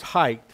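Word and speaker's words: Haidt: of Jonathan hey and his last name is spelled h a i d t uh but it's it's pronounced as height and the title of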